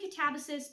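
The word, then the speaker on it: Katabasis: I'm saying Catabasis because I listened to the audiobook and that's how they say it in the audiobook.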